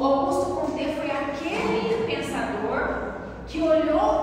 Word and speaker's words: Auguste Comte: Então, como bom francês, a pronúncia do nome dele, se vocês tivessem ouvido, pode ser que vocês tenham ouvido Auguste Comte, mas é Auguste Comte, que é francês.